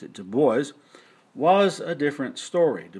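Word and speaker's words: Du Bois: web de boys looks like it should be pronounced DUIs but he pronounced it de boys was a different story de boys was from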